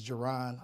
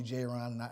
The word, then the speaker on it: Ja'Ron: I always tell people they say my name of course it's Geron a lot of people call me Jay Rana and I go by